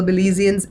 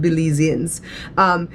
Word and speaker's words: Belizean: Belizeans and my adopted Belizeans. You know what I realize? You know, our name for the people of Belize is Belizeans, right? And along the way, a lot of Americans say Belizean.